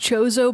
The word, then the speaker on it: Chozo: I say Kozo. Kozo, yeah. In Guacamelee, they have Chozo statues that give you stuff. It might but then it's also technically be fun. pronounced Chozo, but I don't say it that way because